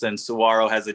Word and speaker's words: saguaro: you have to know is it is it saguaro there you go okay and what was the